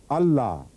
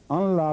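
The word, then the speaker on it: أن لا: اللہ، اشہد اللہ الہ الا اللہ. جو لوگ ان لا پڑھتے ہیں وہ غلط پڑھتے ہیں، کیونکہ صحیح تلفظ ہے اشہد اللہ الہ، لیکن نون لکھا جاتا ہے ویسے.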